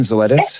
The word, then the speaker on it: Zoetis: was um I I'm going to get the name wrong, Zoetis? Is that how you say the name, Zoetis?